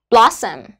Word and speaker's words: lotion: minh là object ấy Lotion lotion trọng âm của chúng ta chơi và âm đầu tiên là bọn họ sản